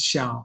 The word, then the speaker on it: Xiao: in case you're wondering how should i pronounce his name most correctly it's xiao i'm originally from china